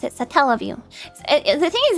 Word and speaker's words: Satellaview: I've only ever heard it pronounced the way you pronounce it, Satellaview. The thing is, it's based on satellite, so I'm like, Satellaview? I think it's Satellaview.